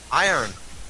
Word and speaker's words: iron: __ ] R from there's no R I'm not pronouncing any R say it say it again I on there you go iron oh what the it